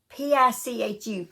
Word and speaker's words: Pichu: It's not Pikachu. It is, Pichu.